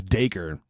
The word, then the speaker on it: Dacre: And also, the way that you pronounce his name is Dacre. Okay, so it's Dacre. Okay, Dacre. I was saying Dacre.